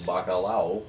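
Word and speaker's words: bacalhau: Bacalao is the Spanish word for cod, but also in Portuguese, bacalao is the Portuguese word for cod, which is spelled differently, but Ah. pronounced fundamentally the same.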